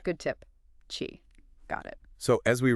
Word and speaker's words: qi: And hey, just a quick heads up for later talks when we mention key. Ah, yeah. It's pronouncedqi. Just so everyone's on the same page. Good tip. Chi.